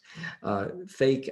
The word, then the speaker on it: PHEIC: that it can declare what's called fake and that and i did not know how to pronounce that too i heard it on a podcast fake actually stands for pheic public health emergency of